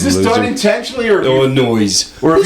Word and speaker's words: Illinois: Why do you pronounce the S at the end of Illinois?